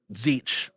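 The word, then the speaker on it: Tzeentch: The Chaos Gods featured are as follows: Korn, Nurgle, and how do you pronounce this last one? The TZ? Zeech. And Zeech.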